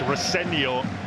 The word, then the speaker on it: Rosenior: Like you, Nigel, I've worked a lot with his dad, Leroy, and he always says it's pronounced Rosenior, but that was addressed in pre-match press conference. Liam Rosenior said, "I'm happy to be called either, as long as you're nice about me."